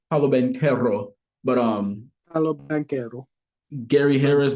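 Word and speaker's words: Paolo Banchero: Actually, I can actually say his name right, Paulo Banchero.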